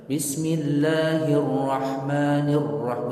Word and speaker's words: bismillahirrahmanirrahim: Dia orang baca bismillahirrahmanirrahim, nggak sah, nggak ada tasydid pada ra, harus ditasydidkan bismillahirrahmanirrahim, begitu harus jelas nampak tasydidnya.